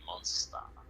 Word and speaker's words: Mansuta: But in that's just the Japaneseifying way of doing it, and the way that word is constructed in Japanese, the su syllable would be less stress, so it'd just be monster.